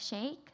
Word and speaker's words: Shake: my name is shake kind of like milkshake pronounced my last name the first song i'm